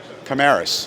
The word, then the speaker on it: Commaris: And how do you pronounce that? Commaris. Commaris. Commaris. Okay.